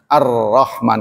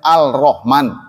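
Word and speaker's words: الرحمن: Jadi huruf-huruf tertentu kalau ada al-nya nggak ada, jadi Ar-Rahman kan, jadi katanya kan asalnya Al-Rahman. Tapi L-nya nggak dibaca karena itu al-nya Syamsiyah, Ar-Rahman.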